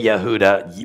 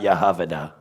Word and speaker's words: Yehuda: Easy, because on all the languages, they say Yehuda. Whether they say Yehuda or Yehuda, it's not Yehavada.